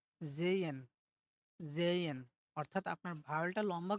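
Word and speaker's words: sehen: জেহেন। আমরা কিন্তু জেহেন বলি। কিন্তু এটা হবে কি? জেইয়েন, জেইয়েন।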